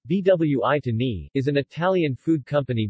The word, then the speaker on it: Buitoni: Buitoni Italian pronunciation vwi to me is an Italian food company based in San